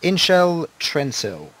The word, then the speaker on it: Inshel Trensil: it was Inshel Trensil. Trensil. That is spelt I-N-S-H-E-L T-R-E-N-S-I-L.